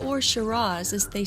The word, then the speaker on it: Shiraz: is sounded more like Shiraz with a Z sound at the end however there is no